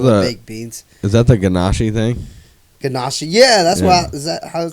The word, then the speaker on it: ganache: Ganache. Yeah, that's Yeah. is that how it's pronounced?